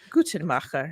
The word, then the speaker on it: Guttmacher: So how do you say it properly? Guttmacher. No, I don't think anyone says it in the German way.